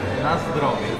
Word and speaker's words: na zdrowie: Na zdrowie.